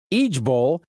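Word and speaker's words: IJBOL: the internet is pushing i j b o l pronounced egb it means I just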